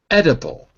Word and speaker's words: edible: So the first syllable is ed. So the reason I say ed is because the first syllable ends in a consonant, therefore it's closed. If it were open, it would be edible, but it's not e, it's eh. So just to be clear, the first syllable ends on the d, edible.